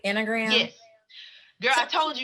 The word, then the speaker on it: Enneagram: Enneagram?